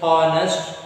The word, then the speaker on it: honest: We won't pronounce h. So h is silent. You won't say h honest, wrong. H honor, wrong. H hover, wrong.